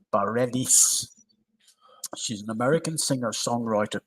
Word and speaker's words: Bareilles: 44 today is Sarah, and I've got to pronounce this right, Bareilles.